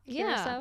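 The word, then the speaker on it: Curaçao: At this point, the ship was just about to dock in Is it Curacao? Is that how you pronounce? Yeah. Curacao?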